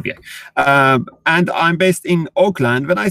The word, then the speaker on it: Auckland: that's what actually that's how it's let's say pronounced in in United States. But Auckland, I mean Auckland, New Zealand, which is quite far away if